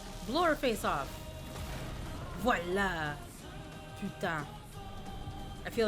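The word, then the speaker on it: voilà: Velva. Wait, is that really how an American says voila? Velvita. The voila would be more like oi. Voila.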